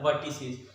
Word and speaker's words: vertices: इसका प्रोनाउंसिएशन होता है वर्टिसीज।